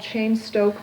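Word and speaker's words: Cheyne-Stokes: breathing and that pattern change is often called chain Stoke breathing or apnic breathing that's spelled AP Nea and chain Stoke is CH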